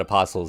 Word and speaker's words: apostles: So, dead apostles and the dead are two different things, I guess. The ones you call vampires are the dead apostles. I think the T is silent in apostles.